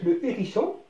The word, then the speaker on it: le hérisson: بينما le hérisson, كلمة le hérisson, القنفذ, le hérisson. Donc ce mot n'accepte pas l'élision. لا نستطيع أن نحذف هذا الحرف المتحرك ويبقى ننطق le hérisson.